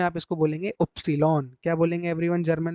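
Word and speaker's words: Ypsilon: बाकी जर्मन में आप लोगों को अगला जो वर्ड जो प्रोनाउंस करना है इसको वाई बोला जाता है इंग्लिश में। जर्मन में आप इसको बोलेंगे उप्सिलॉन।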